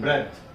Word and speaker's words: breath: When it is used as a noun, the pronunciation is breath.